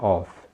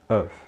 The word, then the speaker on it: of: E note que a preposição of aí é pronunciada com V no final, não é of, é of, ok?